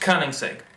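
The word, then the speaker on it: Koenigsegg: you're completely obsessed with King sigs and it's pronounced kerning Sig or King Sig I watched um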